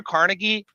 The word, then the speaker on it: Carnegie: cocksuckers, no doubt, but like Andrew Carnegie, is that his name, or is it Carnegie? Yeah. You had like Carnegie. Ford, all these Scottish. industrialists, It's all these pronounced Carnegie.